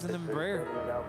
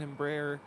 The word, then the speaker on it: Embraer: our next musical selections i don't think it's pronounced embryo though good my last memory of flying as a passenger on an embraer was flying from seattle